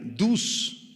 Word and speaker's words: dus: segunda palabra trillar es la palabra aramea dus d u s con acento en la u significa pisotear o atropellar